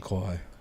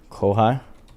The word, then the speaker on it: Kauai: In Kauai. Kauai?